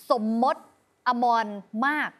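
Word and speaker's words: สมมตอมรมารค: ไม่ ใช่ แน่ นอน สะพาน นี้ อ่าน ว่า สะพาน สมมต อมร มาก อ่า สมม สมม มาก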